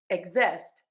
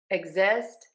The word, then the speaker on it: exist: Now let's shift that stress. Exist. Exist.